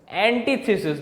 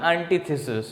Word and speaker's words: antithesis: How will you pronounce this? You will pronounce this as antithesis, not antithesis. It is antithesis.